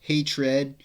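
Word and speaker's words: H8 Red: beast got the time hate red which is pronounced hatred um one man stands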